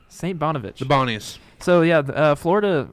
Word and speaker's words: St. Bonaventure: How do you pronounce that? St. Bonaventure. St. Bonaventure.